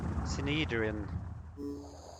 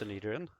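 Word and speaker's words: Synedrion: I think it's pronounced Synedrian, if I remember correct.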